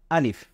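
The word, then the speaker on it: ا: এটাকে বলা হয় আলিফ আমার সাথে খুব সাধারণভাবে সহজভাবে আপনারা বলুন আলিফ এর জন্য আপনাদের আলাদা কোন কষ্ট করার প্রয়োজন নেই ব্যাস আপনারা মুখ থেকে বলে ফেলুন আলিফ আমাদের অনেক বাচ্চাদের কিন্তু নাম রয়েছে আলিফ সেই নামটাই আপনি উচ্চারণ করুন আলিফ এটা হলো আরবি বর্ণমালা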